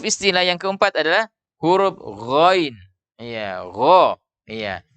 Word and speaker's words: ghain: Cara membacanya juga dengan diangkat pangkal lidah sehingga terdengar suara itu tebal. Iya. Gho, ri, gu, bau. Jadi kita membaca Al-Fatihah ghairil maghdubi. Iya, jadi tidak dibaca dengan diturunkan pangkal lidah.